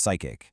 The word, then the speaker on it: psychache: We need to measure psychic, and yes, it's pronounced psychic.